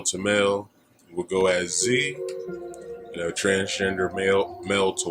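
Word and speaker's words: ze: It's Z in here. Z is spelled Z-E. Here is spelled H-I-R.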